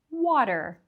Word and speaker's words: water: And we don't say water, but water, water. So you can hear that the T in the middle of that word sounds like it's a D.